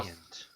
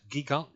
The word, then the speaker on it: Gigant: Ray So- Giant. No, Ray. How do you? It's not giant, but gigant.